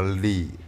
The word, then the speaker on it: Leigh: 感觉，因为她叫 Anna Lee Waters。